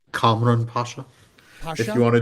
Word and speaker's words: Kamran Pasha: Cameron Pasa. Yeah, can you say it? Cameron, how do you say his last name? Kamran Pasha.